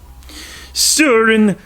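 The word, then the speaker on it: Søren: it concerns the character of sewer in Kierkegaard Suren or as they say in the the Dane pronunciation say it with me so it with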